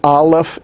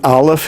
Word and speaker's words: aleph: placed below the consonant notice that the aleph is not what's giving you the sound here aleph itself is silent we're only using it to show what the vowel pointing is the vowel pointing is what we're actually considering right now the aleph itself makes no sound it is the vowel